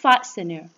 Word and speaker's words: fastener: Khi ở đứng sau phụ âm S, nên chúng ta chỉ đọc là fastener.